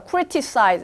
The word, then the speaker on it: criticize: T 발음이 있긴 하지만 부드럽게 이어서 발음을 하느라 criticize 이렇게 안 되고 criticize, criticize. 라고 된다는 거, criticize.